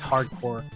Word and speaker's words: Hard Corps: If it's spelled like CORPS, Yes. it's just hard. It's hardcore.